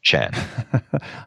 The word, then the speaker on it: Tjan: And my last name is spelled. But as you've done, pronounce Chan.